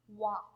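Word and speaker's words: は: Okay, so this is the ha syllable in the hiragana chart, but since it is used as a particle in the sentence, this is read as wa.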